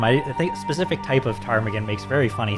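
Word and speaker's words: ptarmigan: So, this is a uh this is a she is a tarmaggan. A tarmaggan. I don't know if you It's spelled with a it has a silent P at the top at the first here.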